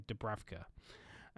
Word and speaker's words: Dubravka: Sorry, I did hear it pronounced earlier. Dubravka.